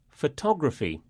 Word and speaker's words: photography: Words that end in the letters P-H-Y, pronounced phy, usually have this stress pattern, like biography and photography.